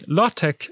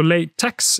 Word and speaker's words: LaTeX: by usage not fiat tech is usually pronounced tech making lottech and latex the logical choices but language is not always logical so lay text is also possible you cannot separate the